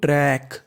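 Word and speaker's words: track: TRAC, इसे पढ़ेंगे हम लोग ट्रैक। ट्रैक क्या पढ़ेंगे? ट्रैक।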